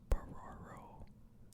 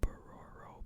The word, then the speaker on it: Bororo: I think this is pronounced Bororo. The Bororo people of Brazil are one of the few groups of people where all have the same blood type.